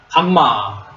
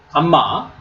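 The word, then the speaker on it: γ: 비 그다음에 세 번째는 감마 감마 감마는 한글의 기역 발음입니다 기억 억 그다음에 델타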